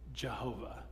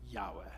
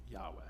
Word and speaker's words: Yahweh: a long time we thought the word was pronounced Jehova but it's not it's probably better pronounced Yahweh Yahweh so every time you see LD in caps